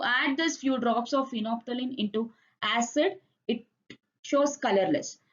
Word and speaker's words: phenolphthalein: It is phenolphthalein. L is silent.